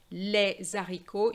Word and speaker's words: les haricots: For example, here you cannot say les haricots.